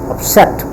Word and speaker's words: upset: it a frame set upset it has two syllable up and set and the set rest is on set because it is